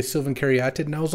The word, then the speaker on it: Caryatid: So back when I was on PT coverage, we got the mandate that this is actually pronounced Caryatid, and we should say Sylvan Caryatid.